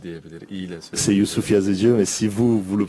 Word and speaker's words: Yusuf Yazıcı: comment on prononce ton nom pour pas faire d'erreur? Yusuf Yazıcı ama onlar hani farklı söyle belki yazıcı diyebilir. İyi ile söyle. C'est Youssouf Yazıcı, mais si vous le prononcez un peu Yazıcı.